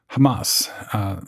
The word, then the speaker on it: Hamas: So the second player, Hamas, and that's the westernized version of it. The correct pronunciation includes a little bit of guttural at the beginning. Hamas, probably butchering it, but to be accurate, that's how it's pronounced.